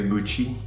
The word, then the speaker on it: Gucci: I think a lot of Americans say Gucci. Gucci? Gucci. Gucci, Gucci, Gucci. It's a Gucci. Gucci. Gucci. So it's a hard ch.